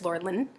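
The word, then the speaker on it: Lurlene: my whole entire life I've been saying Lori McDonald and I'm pretty sure it's Laura Lynn um McDaniel um I have a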